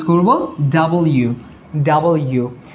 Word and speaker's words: W: এই ইউটা এখানে লিখবো তাহলে কি হচ্ছে double you right double you এভাবে আমরা উচ্চারণ করব এই লেটারটাকে double U ভি ইউ V double U V double you এভাবে তাহলে ইউ তো আমরা চিনি কিন্তু ডাবল ইউ এটা আমরা অনেকেই ভুল করি ডব্লিউ বলি ডব্লিউ বলি আরো নানা